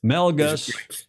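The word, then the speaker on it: Melges: Um and H you know we all know Harry Melgus IV Mel Gus Melgus Melgus like Gus Melg he's a great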